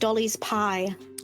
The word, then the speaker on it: Dolly's Pi: this it's going to be called Dolly's Pi but it would be pronounced Dolly's pie Dolly's pie nice okay